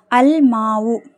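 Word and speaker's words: الماء: rooster ஓகேவா next பார்கலாமா அல்மாவு அல்மாவு அந்த தண்ணீர் அல் மீம்ங்கறது என்னது கமரியாுடைய எழுத்து சோ லாம் வந்து உச்சரிக்கப்படணும் சோ அல்மாவு அந்த தண்ணீர்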